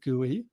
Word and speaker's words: GUI: r graphical user interfaces are abbreviated gui and pronounced gui i'm a big fan of gooeys because i've worked with